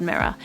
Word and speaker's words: mirror: the r sound but at the very end of the word mirror there's this R which is silent and you're dropped off